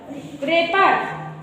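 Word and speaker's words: wrapper: And right, डब्ल्यू आर आई टी, आर के पहले डब्लू आया है तो साइलेंट हो गया। रेपर, डब्ल्यू आर A double P ई आर, रेपर।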